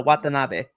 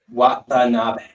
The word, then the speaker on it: Watanabe: So Watanabe. Watanabe.